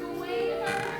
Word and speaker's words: Gawain: Sir Gawain. Yes. Some pronounce it Gowan. If they are Irish, Scottish, Gaelic-ish. Not me.